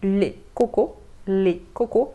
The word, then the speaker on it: coco: Quanto ao coco, le coco, eu sei a pronúncia parece com outra coisa, né?